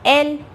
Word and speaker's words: elle: Now as you can see here, ELLE, we pronounce it as L, right?